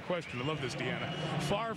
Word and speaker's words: Favre: Favre rhymes with starve. Don't worry about the order of the letters. Just say it right.